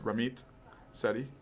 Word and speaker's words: Ramit Sethi: It sounds like it's Ramit Sethi.